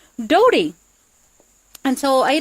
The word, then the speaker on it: Dota: dota they found out it's not pronounced dota it's actually pronounced Dody and so I like